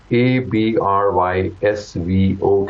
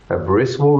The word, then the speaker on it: Abrysvo: FDA ने इसको approve किया और इसको ABRYSVO कहते हैं, ब्रिस्वो भी कह सकते हैं, और जैसे मैंने आपको प्रोनाउंसिएशन अभी बताई।